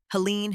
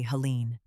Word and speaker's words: Helene: She lost only one battle, the pronunciation of her name. The people in the bottom refused to say Helene. They called her Helen Wright and left it at that.